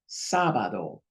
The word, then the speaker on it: sábado: Here's an accent mark. And normally it will be rule number one, but because of the accent, it overrules it. Sábado, which is Saturday.